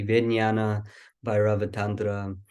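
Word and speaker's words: Vijñāna Bhairava: this meditation comes from the vi vi or I always say it wrong it should be Viana by ratra is a text in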